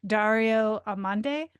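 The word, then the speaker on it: Dario Amodei: oh, so I was listening to the Ezra Klein show last week, and he was interviewing, I'm going to butcher his name, Dario Amande, I think is how you say it.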